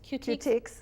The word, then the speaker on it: Cutiques: And you're an owner of Cutiques. Is that how you pronounce it? Yes, Cutiques plus Cutie Patooties.